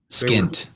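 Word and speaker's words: pschent: the skint the combined Crown which is p-s-c-h-e-n-t skint yeah they were do we know which one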